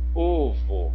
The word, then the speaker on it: ovo: Qual que é a sílaba mais forte? Ovo. É o O aqui, ó.